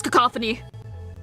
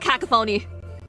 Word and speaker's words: cacophony: cacophony oh my God it is cacophony I'm going to kill myself so it's not cacaphony cacophony cacophony [